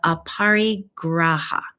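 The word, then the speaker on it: aparigraha: part of the Yama and it's called the apari graa and it's spelled a p as imp Paul a r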